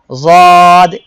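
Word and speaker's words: ضاد: জিহ্বার গোড়ার কিনারা উপরের মাড়ির দাঁতের সঙ্গে লাগিয়ে যদ উচ্চারিত হয়।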